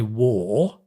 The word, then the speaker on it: wore: in the past I wore which is pronounced the same as the shooting war I wore and the